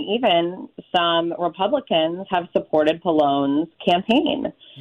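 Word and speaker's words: Pallone: Uh, Palone has won and am I pronouncing his name correct? Palone.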